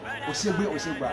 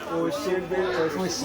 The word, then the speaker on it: Oshegbe: Oshegba. Oh, okay, that's his name. Yeah. Okay, Oshegba. So my brother can help pronounce this name. Oshegbe. Okay, that's to be Oshegbe.